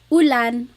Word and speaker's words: ulan: So, ulan, u rain and chair. Oo, ooh. Not like under or umbrella. The letter U in Tagalog has an ooh sound.